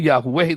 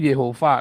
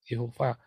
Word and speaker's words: Yehova: Ngomong Yahweh itu salah. Yang betul tuh Yehova. Nanti diajarin di kelas evangelis. Ya, cara bacanya yang benar. Bukan Yahweh, Yehova.